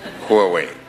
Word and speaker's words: Huawei: I've been working hard to pronounce your company name properly. Huawei.